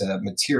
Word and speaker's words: Motyer: It's Matier is how you say it, but it looks like Motyer or something like that.